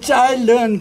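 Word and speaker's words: 蔡倫: 이건 짜일런 그랬는데 우리말로는 채륜이라는 사람이다. 우리말 발음대로 하면 채륜이라는 사람인데 종이를 발명한 사람이에요.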